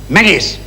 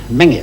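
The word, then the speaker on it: Menzies: from Major General menis menis what did you say fras we pronounce it mingis sir do you from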